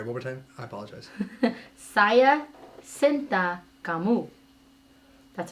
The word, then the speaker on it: Saya cinta kamu: Saya Cinta Kamu.